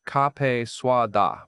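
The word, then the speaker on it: cà phê sữa đá: me how to pronounce café soit da properly, breaking it down syllable by syllable. Ka, fa, swa, da.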